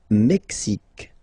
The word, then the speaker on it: Mexique: Le Mexique. Le Mexique. Mexique. It's really the X. Huh? Le Mexique. And then remember this Q-U-E, it's only K.